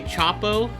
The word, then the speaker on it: CHXPO: This is from the album Super Splash Bros by, I'm gonna say Chapo. It's spelled capital, all capitals, CHXPO.